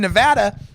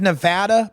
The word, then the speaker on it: Nevada: news people out there learn how to pronounce the names of our own States it's Nevada not Nevada it's Nevada Oregon is not a